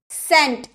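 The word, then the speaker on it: scent: एस के बाद अगर आपका सी आए ना तो वो साइलेंट रहता है। सेंट, आप लोग तो जानते होंगे सेंट क्या होता है।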